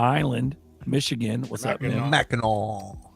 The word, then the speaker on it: Mackinac: Mackinac. Silent C. I miss the hard C.